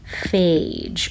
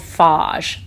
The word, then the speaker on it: phage: specific name for them they are called phage or sometimes they're called fog i don't really know which pronunciation is correct because i hear both in the scientific world so phage or sometimes